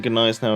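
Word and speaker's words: Gneisenau: playing ranked with it why do i keep pronouncing gone eyes now of a silent g i i think that is the correct way of saying it this is the thing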